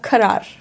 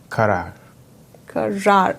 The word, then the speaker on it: Karar: Karar. Karar. So Karar. Last rar is a bit exaggerated.